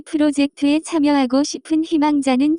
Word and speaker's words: 희망자: The pronunciation of this word is closer to 희망자, examples.